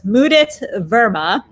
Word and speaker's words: Mudit Verma: on deck, and my apologies for mispronouncing your name. It's Mudit Verma.